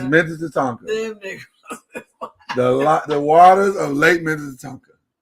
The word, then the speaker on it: Minnetonka: People have been pronouncing it wrong for years. It's Minnetonka. It's Minnetonka.